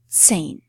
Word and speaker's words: zehn: And the last, the number 10 is zehn. Zehn. Okay. So h in the middle of the word, if it follows a vowel, never has a sound on its own it just makes that vowel, preceding vowel, sound longer.